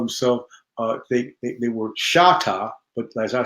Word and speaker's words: Choctaw: She was a Shatta, not Choctaw. This is another thing that the whites mispronounced the name of the original Native Americans, or